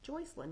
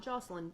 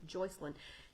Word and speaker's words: Joycelyn: Joycelyn, not Jocelyn, Joycelyn.